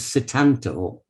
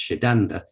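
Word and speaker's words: Sétanta: his birth name was satanto more specifically if you're pronouncing it in irish i believe it's shiddanda but that's cetanta is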